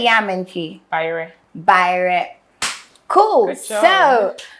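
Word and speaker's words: bayerɛ: Bayre.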